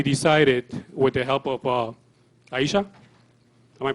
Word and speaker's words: Ihesha: So we decided, with the help of Ihesha, am I pronouncing that right? Yeah. Ihesha.